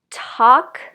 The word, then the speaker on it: talk: you'd like to know more about how to pronounce the vowel okay in the next one we have a L words talk chalk walk stalk so if you're not familiar